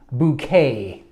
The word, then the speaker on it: Bucket: in the clip and she would always pronounce her name bouquet to sound more sophisticated and the show revolved